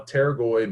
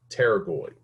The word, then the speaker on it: pterygoid: with a p okay the p is silent just like it is in pneumonia we don't say pneumonia okay it's just pneumonia so it's just pterygoid so we have the